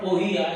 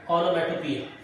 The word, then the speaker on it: onomatopoeia: It is not poeia, it is pia, onomatopoeia.